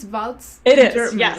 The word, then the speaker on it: Waltz: votes I think it's votes it is yeah right like the dance like the dance like the dance exactly because I hear so many people mispronounce that last name so with Indra votes she's the co-author of